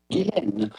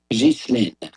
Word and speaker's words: Ghislaine: Is on her first name more than anything, which is of French origin. And in French, it can be pronounced either Guylaine or Ghislaine.